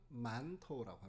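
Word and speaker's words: 馒头: 제가 한번 읽어 볼게요 만두를 중국어로는 만토우라고 합니다 만토 만토 바른 비슷하죠 중국에도 만두라는 말은 있습니다 근데 한국과 전혀 달라요 중국에서 만토우라고 하면은 일반적으로 성이 빈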